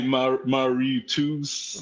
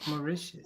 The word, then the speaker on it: Mauritius: I used to say maritus. Maritus. But it's pronounced. Maicius.